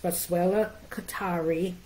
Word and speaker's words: Boswellia carteri: anything I want to tell you that it's pronounced boswellia Qatari and it is ca rter I it's not